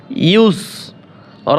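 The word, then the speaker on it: يسرا: আইন বলে এখানে কিন্তু আইন নাই ইয়াসিন পেশ ইউস র আলিফ দুই জবর রান দুই জবরের স্থানে থামলে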